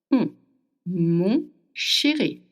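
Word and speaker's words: mon chéri: make you want to make O with your mouth. O. Can you feel it? O. The air goes through the nose. M sherry. Okay. Not lips are pursed together like O m.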